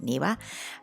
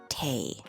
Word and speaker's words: 庭: newa so when it's on its own we pronounce it niwa but when it's in combination as it is in this case with kate then it's pronounced tae again we'll start with the etymology and it's